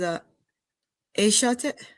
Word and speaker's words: EH-soteric: Your radio name as EH-soteric.